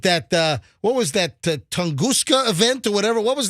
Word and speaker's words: Tunguska: and it wasn't that uh what was that tunguska event or whatever what was that uh hey look that up look up the tunguska event I don't even know how to spell t-u-n-g-u-s-k-a was that it tunguska 1908 explosion in Russia